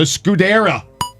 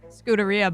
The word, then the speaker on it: Scuderia: on is backwatch ferrari the scudera hell yeah scuderia but yeah whatever tomato tomato